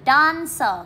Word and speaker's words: dancer: Ở đây chúng ta có hai từ, từ đầu tiên là từ dancer, các bạn nhấn trọng âm 1.